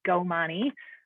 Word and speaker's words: Komani: My name is pronounced Komani.